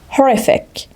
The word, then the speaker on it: horrific: the adjective horrific horrific the stress is on the second syllable horrific so horrific means very